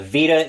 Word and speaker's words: Vita: I think it's pronounced the same way as the PlayStation VA. the handheld from back the Sony handheld back from like 2009 to 2011 era.